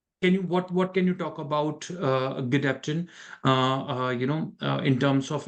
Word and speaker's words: Gedeptin: We pronounce it Gedeptin.